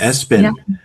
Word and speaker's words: Espyn: Um, I I wondered for you, working with working Is his name pronounced Espen? Is that how you Espen, yes. Espen.